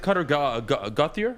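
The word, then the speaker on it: Gauthier: yeah after him no after him you have gothier excuse me is how you pronounce it stupid so just guys i'm telling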